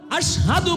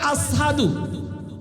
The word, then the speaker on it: আশহাদু: আশহাদু বলতে পারেন না, কয় আসহাদু।